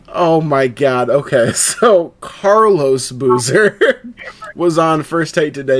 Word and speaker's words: Carlos Boozer: Carl Boozer? Carlos Boozer. Carlos. Oh, I said it wrong.